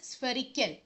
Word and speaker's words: spherical: For example, we pronounce it as spherical. Spherical, okay? Spherical அப்படின்னு சொல்லக்கூடாது, spherical. PH வந்தா அந்த ஃபாங்கிற சவுண்டு வரணும், spherical.